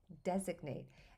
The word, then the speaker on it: designate: But then when we add suffix ate, we make designate. And there's a lot of pronunciation shifts there. The E becomes short and the G is now pronounced to make designate.